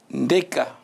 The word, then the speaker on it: Ndeka: Et monsieur Ikambo Ayat, on ne prononce pas le D, sinon on va fâcher certains. Neka. Ndeka. Voilà, Ndeka, absolument. C'est le T qu'on prononce. Absolument.